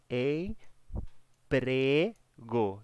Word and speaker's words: emprego: paroxítona seria Por exemplo essa palavra aqui ó em prego dão emprego não é emprego nem pregou a palavra a sílaba mais forte é o pré essa palavra emprego classificada